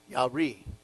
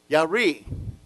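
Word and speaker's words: ירא: let's put that together it's pronounced from right to left yah remember the sawai why a ya re and so what does it mean yari well look at that you're already reading hebrew yari the work of the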